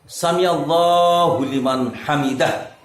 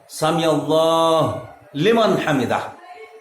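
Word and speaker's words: سمع الله لمن حمده: বলবো একটু কোনটা সঠিক জানিয়ে উপকৃত করবেন ভাই সামি আল্লাহু লিমান হামিদা এটাই হচ্ছে সঠিক উচ্চারণ এভাবেই বলছি আর সামিল্লাহ লিমান হামিদা এটা বলা যাবে না কারণ আরবি ব্যাকরণ আছে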